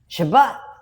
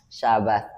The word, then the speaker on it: Shabbat: Shabbat Shabbat Shabbat Sabbath the discussion about Sabbath. Shabbat Shabbat mistaken that's the pronunciation in Hebrew.